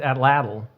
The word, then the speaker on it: Atlatl: and for listeners who feel like we're maybe all belching or mispronouncing something it's it's atlatl yeah we're saying it crits